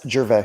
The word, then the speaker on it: Gervais: No S, Gervais.